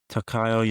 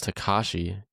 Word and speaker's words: Takashi: Let's see how you pronounce it. Yeah. I'll give it a shot too. Uh, Why not? Takayo Yamazaki. Let's see. Takayo Yamazaki. Where are you getting Takayo? Takao. I see it's Takashi.